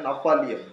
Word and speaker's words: Gnaphalium: जी से शुरू होता है लेकिन उसका उच्चारण एन से होता है, नफालियम। ठीक है, तो इस चीज को आप हमेशा याद रखें।